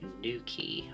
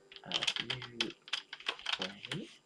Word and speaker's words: Newquay: That would be Newquay, I believe.